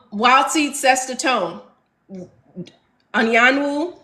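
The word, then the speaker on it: Anyanwu: seed set the tone Anan Wu that's how y'all pronounce her name if you didn't know Anan Wu andoro are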